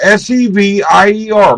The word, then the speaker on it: Sevir: My father's name, my real surname is Severe, Sevir, like severe. It's spelled different than severe thunderstorm, but like severe.